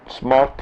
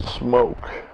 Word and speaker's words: Smok: reviews, shit like that, they call it Smoke. The company name. This is spelled S-M-O-K. The word smoke has a freaking E on it. So it is not smoke.